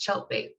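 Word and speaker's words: Tjeltveit: Yeah, so to clarify, that crazy letters after my name is pronounced Cheltbait. It rhymes with shark bait, if that helps you remember it.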